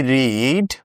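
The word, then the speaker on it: read: ধরো এরকম যদি লেখা থাকে কখনো হি রিড বুক। এই বাক্যটা তুমি খেয়াল করলে তুমি দেখতে পাইবা এখানে রিড লেখা আছে কিন্তু এটার উচ্চারণটা হবে রেড আ বুক তুমি তো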